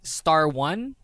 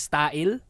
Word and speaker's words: Style: Normally people like if you're new to the Sistar fandom, you would say Star 1, but it's actually pronounced as Style because it's star and then 1, Style.